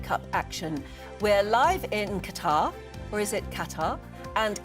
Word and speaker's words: Qatar: Is it Qatar or Qatar? Qatar. Qatar. Qatar. Qatar. So, the emphasis is on the first bit.